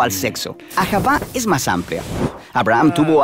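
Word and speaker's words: אהבה: Se pronuncia ahavá.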